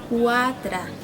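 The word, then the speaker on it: quatre: El número 4, una pronunciación al final un poco diferente. Cuatra, como si sonara al final una pequeña A.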